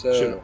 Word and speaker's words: shiva: I wrote Shiva, but then my question got answered by the next scene. So it's a Jewish funeral. Yes, that's what I thought. Sitting Shiva is Shiva.